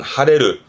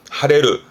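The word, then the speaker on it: 腫れる: 발음은 하레르 하레르 말 그대로 붙다예요.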